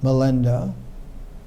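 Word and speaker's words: Milinda: melenda which is a a way in which the indians pronounced menander melenda most of the writings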